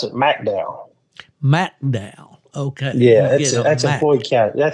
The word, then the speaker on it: McDowell: Yes, sir, but they pronounce it McDowell. McDowell.